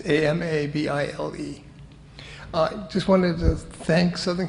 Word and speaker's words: Amabile: Actually, for Italian, it is, but I pronounce it Amabile because my dad did that. And it's Amabile.